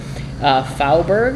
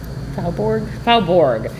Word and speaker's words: Faubourg: It's probably a little more French, too, in its pronunciation, like Faubourg.